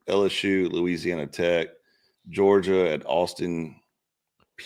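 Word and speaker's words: Austin Peay: Ohio State at Grambling, Penn State, Florida International, LSU, Louisiana Tech, Georgia at Austin, PA. Is that how you say it? Austin P. P, yeah.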